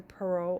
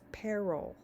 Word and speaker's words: parol: the exceptions to the parole evidence rule first by the way it's not parole it's peril and um I think I